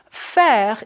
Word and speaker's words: faire: Faire is like the sound we made earlier for je préfère.